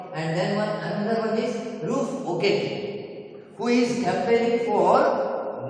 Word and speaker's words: Ruth: POP campaigner says to Ruth Okeke. It is pronounced as Ruth, not Rufus Okeke.